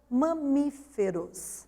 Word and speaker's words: mamíferos: Então, a gente separa ma, hífen, mi, hífen, fe e hífen, ros. 4 sílabas, sendo que a sílaba tônica recai sobre mi, portanto, é acentuada, porque é a antepenúltima sílaba dessa palavra.